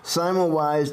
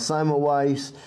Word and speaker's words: Semmelweis: an appointment in a clinic of internal medicine, Simon Wise decided to specialize in obstetrics.